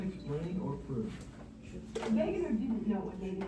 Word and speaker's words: Wegener: No, it's Wegener. After Wegener. Wegener. Wegener. Oh So yeah. it'll tell you, see right here, pronounce, that's Pangea.